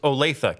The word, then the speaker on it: Olathe: Oh, and it's pronounced Olathe, Kansas.